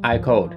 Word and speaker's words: AIKODE: thing to find out I code the pronunciation can also sound like I code meaning the game was